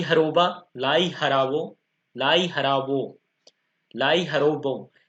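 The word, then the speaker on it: Lai Haraoba: थोड़ा इंग्लिश का प्रोनाउंसिएशन अलग होता है और हिंदी का अलग होता है, क्योंकि जो अपन में इंग्लिश में वर्ड लिखा है वो मणिपुर की लैंग्वेज में होता है, और जो हिंदी का अपन लिखते हैं सो हिंदी भाषा में लिखते हैं, इसलिए थोड़ा प्रोनाउंसिएशन अच्छे से कीजिए आप, कंफ्यूज नहीं होना। लाई हरोबा।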